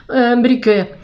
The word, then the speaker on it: Brücke: Se escribe Die Brücke, se dice ahí porque lleva dos puntillos arriba, Brücke, en 1905, que es súper histórico.